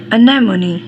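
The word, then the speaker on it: anemones: सबसे पहले हम लिखें इस तरह अन ने मु नी, अनेमोनी अन ने मु नी, अनेमोनी.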